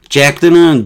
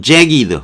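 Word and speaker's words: jagged: 잭드는 잭이드 이렇게 발음해야 된다.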